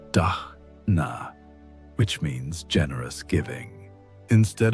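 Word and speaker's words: दान: One of their most successful experiments was what they called digital dana using the Sanskrit word dana pronounced dna which means generous giving instead of focusing on extracting value from their online presence.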